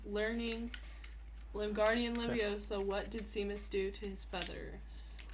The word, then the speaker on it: Seamus: In Charms class, while learning Limgardian Leviosa, what did Seamus do to his feathers?